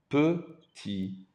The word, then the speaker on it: petit: Il est petit. Il est petit. Il est petit. Notice again, the T is silent.